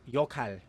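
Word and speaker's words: 역할: It is originally pronounced yokhal, but with this rule, the word is pronounced yokhal.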